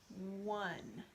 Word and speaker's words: one: And that's a tricky word because it sounds like W-U-N. But that's not how we spell it. We spell it O-N-E, one.